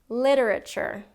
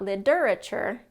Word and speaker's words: literature: So for example, literature, literature. It's not li-der-a-ture or li-der-a-ture. It's literature, first syllable stress.